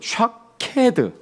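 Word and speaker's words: שָׁקֵד: 살구나무는 샤케드. 여기에 내 말을 지켜 이 할 때 지켜는 샤카드. 물론 이제 그게 변형이 되어서 쇼케드라도 해요.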